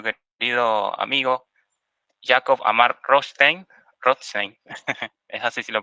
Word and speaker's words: Rothstein: Rothstein, es así si lo pronuncia bien.